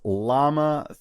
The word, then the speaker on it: Llama: All right, the AI wars have heated up with Zuckerberg's Llama 3, released April 18th, 2024. Yes, it's spelled and pronounced like the animal llama, and released as open source, which is exciting and interesting on its own.